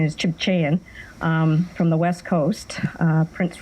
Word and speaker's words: Tsimshian: Tsimshian elder who now lives, and the proper pronunciation is Chibchayan, from the West Coast, Prince Rupert area.